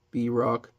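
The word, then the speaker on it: Bierock: B-Rock. Not sure how to pronounce it. I pronounce it Brock, like, the guy from Pokemon.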